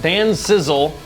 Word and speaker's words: Dan Sizzle: The last one, Dan Sizzle is how it's pronounced.